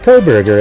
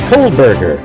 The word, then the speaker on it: Kohberger: Not Kohberger, everybody. It's Kohberger.